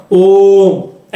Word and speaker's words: ओम: नहीं बोलते हैं ना ओम ऐसे खींच के बोलते हैं ना तो ज्यादा समय